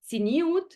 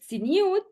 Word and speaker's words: tzniut: So tzniut, or tznius in the Yiddish pronunciation that these women use, came up as a